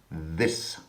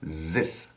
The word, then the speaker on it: this: We will begin with the word this. Quite a few people, including the French and Germans, mispronounce it by saying zis.